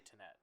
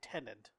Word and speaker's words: Tenet: I say Tenet. Tenet. Well, I hear a lot of people say tenant, like a tenant in a apartment.